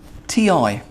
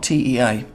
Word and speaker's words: ti: it's going to be the syllable T TI not tea so this syllable is